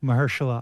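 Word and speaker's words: Mahershala: Marshalla Ali.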